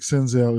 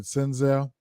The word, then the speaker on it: Senzel: would just look at senzel who else um I probably would just look at senzel tell you the truth sends out looks really really good sends it rhymes with my name Denzel all right so uh